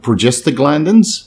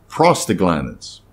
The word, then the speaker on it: prostaglandins: cough and inflammation so it's not progest glands it's prostag glands derived from prostate in